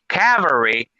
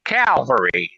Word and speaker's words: cavalry: an ale in there Cavalry c-a-v-a l r y is like a troop of soldiers memory not Calvary there's an L in it people make that one up a lot too it's the sounding phonetically it messes people up when the wolf barks